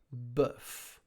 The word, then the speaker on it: bœuf: Bœuf. B-E-F. You can just sound. It sounds like B-E-F. Bœuf.